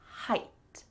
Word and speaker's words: height: Don't be confused by GH, and also don't be confused by EI. That's also weird. Instead, you just need to say height. Height. Why don't we spell this H-I-T-E?